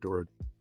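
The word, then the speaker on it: Doherty: D O H D O H E R T Y, but I think it's pronounced Dor.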